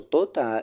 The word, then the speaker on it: Tota: So Tota is again a Muisca word that it has these two syllables.